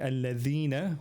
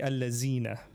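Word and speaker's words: الذين: Instead of saying al-ladhina, dal zal, the zal. Instead of saying al-ladhina you say al-lazina, right?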